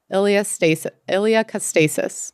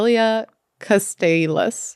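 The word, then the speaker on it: iliocostalis: Iliacastasis. Muscle. No, Iliacastalis.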